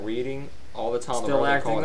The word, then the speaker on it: Reading: Reading is a Oh, yeah. name, and it's pronounced that way. Reading, spelled the Copy same, that. but the action or the verb and adverb of it is pronounced reading. Huh.